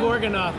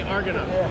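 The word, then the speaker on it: Argonath: I was going to say the Gorgonoth, but it's actually the Argonoth.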